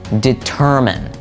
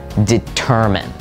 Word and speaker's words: determine: the actual pronunciation is determine determine note that the stress is on the tur and it's not mine at the end it's Min determine next